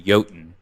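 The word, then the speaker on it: Jötunn: we go that's technically yotin because it's it's Old Norse yeah it's an old Norse the Old Norse word for giant is they pronounce their JS with a y yeah but that's right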